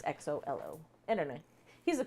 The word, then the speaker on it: Xolo: We think it's Xolo or Zolo or it's Solo or XOLO. Jolo. Yeah, XOLO. It's an Aztec, an old Aztec language. So supposedly it's like Xolo. It's XOLO.